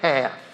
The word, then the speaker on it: half: Take the word half. H A L F for example. Why is the word half spelled with an L? Who invited the L? Why is there an L in there?